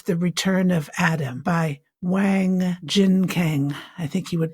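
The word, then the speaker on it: Wang Jinkang: of them was the return of Adam by Wang Jin Kang I think you would pronounce it.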